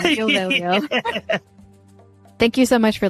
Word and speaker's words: Veglio: Just remember not to pronounce the G when you meet him. Neal Veglio.